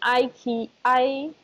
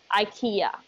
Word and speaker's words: IKEA: Do you know IKEA?